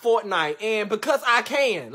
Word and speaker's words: Fortnite: why would you up late last night playing forklift fool it's pronounced fortnite and because i can like mind the business